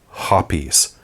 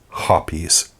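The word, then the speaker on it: Hoppe's: cologne made of hops well no actually it's hoppies call the company if you don't believe me but it really is hoppies I have to admit this one actually came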